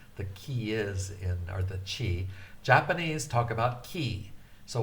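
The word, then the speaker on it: ち: Chi is C-H-I. The T gets such an emphasis on the aspirated point.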